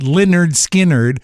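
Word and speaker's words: Lynyrd Skynyrd: So they actually named it, and they spelled it. All the vowels are Y, if you spell it right. Leonard Skinnerd, but it's named after the gym teacher.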